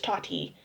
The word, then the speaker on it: Tati: Toddy, I keep saying Toddy, it's Tati.